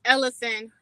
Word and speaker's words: Elocin: then you uh uh ella scene am i pronouncing your name correctly out of respect it's ellison ellison okay i got you i